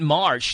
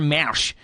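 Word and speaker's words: Marsch: and name of the song looks like you pronounce it florentiner Marsh m a r s c h is not Marsh there's an as M Mar florentiner Mas by noil brass and you said they're coming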